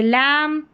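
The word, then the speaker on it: lamb: जैसे लम टम कॉम क्लाइम और ये है बॉम। क्या है? बॉम। बी यहां पर साइलेंट है।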